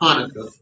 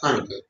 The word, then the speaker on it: Hanukkah: In Hebrew, the Hanukkah, not Hanukkah, but properly pronounced Hanukkah.